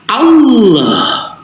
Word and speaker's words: Allah: Ya, huruf ha ini makhrajul hurufnya alhalqi bagian bawah sama dengan alif. Dan sifatnya ini adalah rakah mengalirnya suara. Allah.